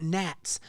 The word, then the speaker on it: gnats: ask you like what Nets are in your life right now I don't even know I think gats are spelled with a G uh silent G um but they they